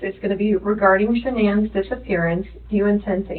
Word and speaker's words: Shanann: Are you lying about the last time you saw Shanann?